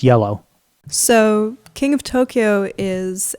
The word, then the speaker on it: Iello: if you live there yellow like the color um i e l l o interesting which uh I believe is pronounced yellow so King of Tokyo